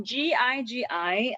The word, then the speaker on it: Gigi: it's this one okay so gigi um when in italian we pronounce as a soft g yeah so this is